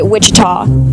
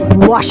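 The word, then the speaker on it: Ouachita: for wasita Baptist University back in Texas everybody pronounced it Witchita but really it's was wash wash how would you pronounce it wash was it's wash Baptist University get it right it's wash people it's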